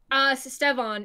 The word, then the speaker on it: Stevan: That's Stevan, right? Or how do you pronounce it? Stevan is usually it.